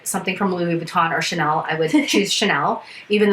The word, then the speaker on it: Chanel: perfect i mean like i like chanel not channel there's a big difference how do you say